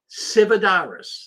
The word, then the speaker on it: Sividaris: Sividaris, that's how you pronounce his name.